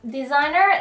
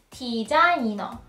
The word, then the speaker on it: 디자이너: And the designer is 디자이너, 디자이너. Not a designer, but 디자이너.